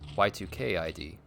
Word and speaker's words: Y2Kid: I think it's Y2Kid is the one I hear most often, but Y2K ID apparently is how that's said.